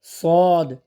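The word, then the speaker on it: ص: উপরের তালুর সাথে লাগিয়ে বাতাস সহকারে শীষ দিয়ে উচ্চারণ হবে শিন শিন শিন তারপর সদ সদ আমরা অনেকে সোদ পড়ছি মুখটা পাশের দিকে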